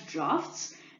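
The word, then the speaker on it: draughts: games like droughts now these droughts you may also pronounce them as drafts these are strategic games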